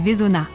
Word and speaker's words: Veysonnaz: région de Nanda et vezona au fait Nanda et Vona ça s'écrit avec un Z à la fin mais on ne le prononce pas c'est comme ça ici c'est la règle je viens d'arriver au